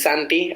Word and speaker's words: Santi: Just like try with sand, like the beach sand, without the D, and tea, like the drink, and just mush them all together.